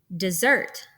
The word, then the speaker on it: dessert: then with a stressed dessert is an example of an iambic foot we put the stress on the second part of the word a trochaic foot is